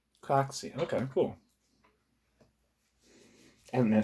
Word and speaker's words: Craxi: I'm going to see how you actually pronounce this guy's fucking last name. Craxi.